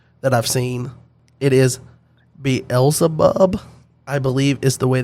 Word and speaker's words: Beelzebub: It is Beelzebub, I believe is the way that you would pronounce that.